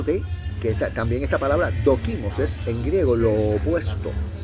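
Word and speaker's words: δόκιμος: Entonces, la palabra eh eh aprobado, la palabra aprobado en el griego es doquimos.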